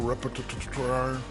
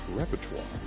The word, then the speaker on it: repertoire: He's got the whole repar. Stop it, Shaq. Just stop it, man. Don't steal my material. And it's pronounced repertoire.